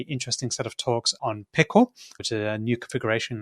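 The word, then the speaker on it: Pkl: just for the transcript how do you spell pickle oh it's PK yeah not like the food that you eat but pronounce that way I actually read it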